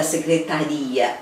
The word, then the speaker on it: secretaria: ali dando conta da secretaria. Opa! Falei já, secretaria. Onde está a sílaba tônica? Secretaria. É no ri.